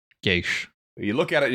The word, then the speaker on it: geas: Um but it's it's because it's a freaking classic Irish word. Um like proper Irish um language and um it's pronounced Geas. Geas.